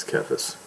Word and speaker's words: Cephas: It's pronounced as Cephas.